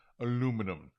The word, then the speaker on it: aluminum: Aluminum. Aluminum. Aluminium. I think that's a European thing. It's even spelt differently. They have an extra syllable.